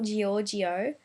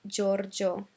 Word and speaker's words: Giorgio: For example, Giorgio, not Giorgio, but Giorgio.